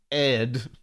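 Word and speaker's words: Aedh: So two of them, they were brothers, and they are spelled A-O-D-H and A-E-D-H, which I pronounced Odd and Ed.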